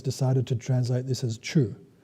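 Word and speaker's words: ཆོས: The Tibetan translators decided to translate this as chu. Written C-H-O-S, so the S is silent, chu.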